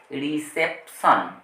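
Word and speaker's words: reception: আছে পি আরটি পি আরটি কিন্তু এষেত্রে প সাইলেন্ট নয় যেমন এটাকে বলা হবে রিসেপশন রিসেপশন আবার এটা হচ্ছে পারসেপশন পারসেপশন তাহলে পটি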